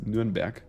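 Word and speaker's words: Nürnberg: i said that right nuremberg so in german it's new and back but um i think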